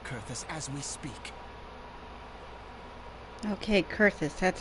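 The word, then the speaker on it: Coerthas: the people of kurthus as we speak okay curtis that's how it's pronounced yep her appetite for destruction far exceeds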